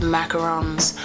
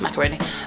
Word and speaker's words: macaron: am so obsessed with macarons. When I went to Paris, that's all I had for breakfast, lunch and dinner. Macarons. How do you say it in French? Je m'appelle macaroni. No, that's macaroni. Macaron.